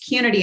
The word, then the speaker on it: Qnity: the name wrong it's community and really um pronunciation is like unity so that was really